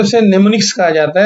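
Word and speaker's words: mnemonics: किया जाता है उसे nimnics कहा जाता है और लिखा जाता है एम nimnics इसके अंदर एम साइलेंट है तो इनको कहा जाता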